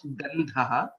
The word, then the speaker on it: Gandhaha: Gandhaha, Tha is a Mahaprana and hence it becomes Gandhaha.